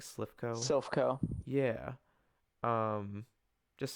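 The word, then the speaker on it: Silph Co: Silphco. Yeah. Um, just say that again for the record. Silphco. Silphco? Yep. How do you spell that?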